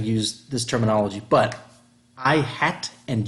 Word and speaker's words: i-hat: I think technically it's called a caret, C-A-R-E-T, but we pronounce it I hat and j hat.